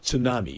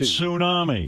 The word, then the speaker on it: tsunami: You know, there's a T in front of that word. It's pronounced tsunami. It's a Japanese word.